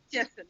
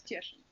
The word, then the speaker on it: Cieszyn: I can't pronounce it. Cieszyn, yes, it's Cieszyn University of.